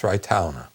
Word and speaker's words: Thraetaona: It's Thraetaona. The AO doesn't mean AO. In Avestan, it's pronounced Ao.